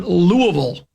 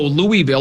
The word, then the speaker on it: Louisville: Louisville, they pronounce it Louisville, and it's all kind of slurred together.